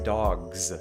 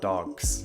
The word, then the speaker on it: dogs: D, or G, then that plural is actually pronounced as a Z. So you say dogs, not dogs.